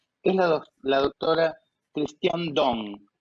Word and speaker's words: Dosne: es la doctora Christiane Dong. Se escribe Dosne, Christiane Dosne, pero se dice Christiane Dong por lo que estuve averiguando.